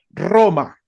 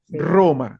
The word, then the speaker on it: Roma: importante y es que la r italiana es diferente a la r española se escribe igual se usa muy parecido pero relajen su r Por ejemplo si yo voy a decir esta ciudad nosotros la decimos en español Roma con esa r atorrante Roma la r que